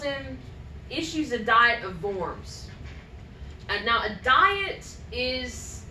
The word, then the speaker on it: Worms: he gives him safe conduct to go to forms it's spelled worms but it's pronounced worms I think